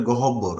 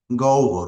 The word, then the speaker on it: গহ্বর: এই শব্দের উচ্চারণটা এখানে দেখা হচ্ছে যে অনেকেই এটার উচ্চারণ করে গহব্বর, আসলে শব্দটা হবে, উচ্চারণ হবে গহ্বর, মুখ গহ্বর মানে হচ্ছে